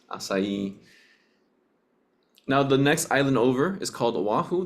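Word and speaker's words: açaí: it's pronounced aai not Akai some people people say aai that's not the correct pronunciation they're going to look at you funny just remember it's the C is pronounced like an S asai now the next Island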